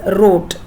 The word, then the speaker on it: wrote: she w r o t that's wroni W is silent so it's r o t w r2e that's wrote there's no sound of w she wrote a no